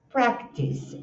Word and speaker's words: practice: Practice. Olha essa pronúncia. Tem um e tem um. Então eu sei practice. The athlete practice throwing the ball. Praticar. O stress tá na primeira também.